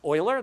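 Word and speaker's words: Euler: Uh Oiler, that's how that's pronounced, uh does a lot of that early work.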